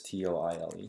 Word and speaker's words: Toile: T-O-I-L-E. How do you pronounce that? Toile. All right. Thank you, Google.